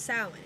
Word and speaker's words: Samhain: Is pronounced Samhain. It's the Celtic word. How I like to tell people is take the M, flip it upside down to a W.